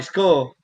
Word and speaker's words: Scrull: So Marty Skull, really, that's really how you say it, Marty Skull.